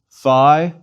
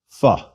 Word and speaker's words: phi: life is too short most students of ancient Greek pronounce the Phi like the F sound at the beginning of philosophy please repeat Phi Phi Chi Chi is another